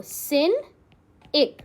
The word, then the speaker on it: cynic: कैसे प्रोनाउंस करोगे, इसको ब्रेक कर लो, सिन इक, सिन इक। सिनिक आपका एक नाउन होता है।